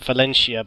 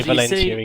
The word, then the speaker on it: Valentia: I would have pronounced it Valentia, but they actually do say Valentia in game.